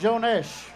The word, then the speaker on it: Jones: in ireland boy am i telling fibs we pronounce it joanesh what's your nash see that i didn't know